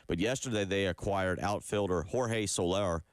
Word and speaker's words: Jorge Soler: But yesterday they acquired outfielder Jorge Soler, I believe is how you say it, and right-handed pitcher Luke Jackson from San Francisco.